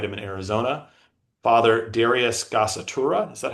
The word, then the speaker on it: Gasatura: Father Darius Gasatura, is that how you say his name, Canon? Gassitura, yes.